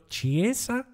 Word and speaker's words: Chiesa: reports linking us with Federico chieza is how he pronounce his name some you know reports